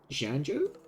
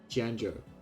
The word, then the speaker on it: Xianzhou: okay got it or janju hey the the zh is pronounced like a j I think janjo the jianjo lawful I think that's